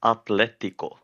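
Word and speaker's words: Atlético: my team name so it's Atletico cuz it's Spanish it's Spanish but I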